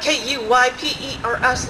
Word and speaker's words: Kuypers: Kuypers. I'm like, K-U-Y-P-E-R-S, like the Kuiper Belt in astronomy, like De Kuiper Schnapps. And, you know, it's like, it's Kuypers. It rhymes with Kuiper.